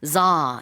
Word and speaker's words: tsar: 그래서 우리가 차르라고 하는 이 황제라는 단어가 영어로는 za 이렇게 발음을 하고요.